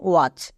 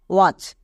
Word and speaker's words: watch: পাও তখন তার জন্য TCH ইউজ করে দিবা। যেমন ওয়াচ, এখানে শব্দের শেষে চো আছে তাই এর জন্য TCH হচ্ছে, যেমন WATCH, ওয়াচ। এবার এখানে দেখো টি এর পরে CH আছে, তার মানে টি সাইলেন্ট।